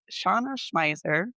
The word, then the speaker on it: Shauna Schmeisser: Her name is Shauna Schmeiser. Yes, pronounced it right.